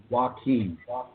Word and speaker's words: Joachim: My first name is pronounced Joachim.